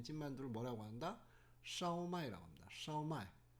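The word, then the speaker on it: 烧卖: 요런 거를 뭐라고 한다 샤오마이라고 합니다 한국에서는이 발음을 제대로 표기를 못해서 어떤 한국에서 이런 걸 파는 데가 간혹 있긴 합니다 좀 고급 중식당이라든가 딤섬을 파는 데가 있는데 이거를 슈마이라고 적어놨더라고요 슈마에 정확한 발음은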